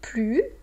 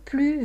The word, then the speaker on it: plus: On avait vu avec le nom, avec le verbe, c'était plus. Maintenant, on voit une autre comparaison devant un adjectif ou un adverbe où c'est plus, parce qu'il commence par une consonne.